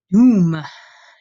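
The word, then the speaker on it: dum: Doom, doom. You hear me say that with kind of a long U sound, doom.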